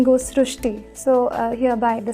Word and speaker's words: Srishti: So in Marathi, the word Ri is pronounced as Ru. So that is why the pronunciation goes srushti.